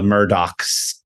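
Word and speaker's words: Murdaugh: by the fact that it's spelled Murdo M Ur D- u g h and the entire time they called him the murdocks with a hard cks sound so that was they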